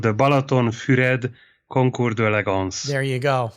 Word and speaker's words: Balatonfüred: It's called the Balatonfüred Concours d'Elegance.